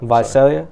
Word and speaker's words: Visalia: how do you say your city's name again Visalia advice' yeah coming from Visalia to LA the